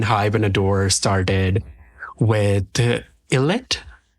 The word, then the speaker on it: ILLIT: and adore started with illit is that how you pronounce their name it's IET okay eyet um which is under